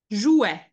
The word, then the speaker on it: jouait: Joue, jouait. You add the sound E. That's really the mark of the imperfect, hein, the E, jouait.